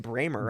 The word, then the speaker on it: Bramer: I'm here with the one and only Brad Bramer, and that's how you say it, Bramer, right? Bramer, German.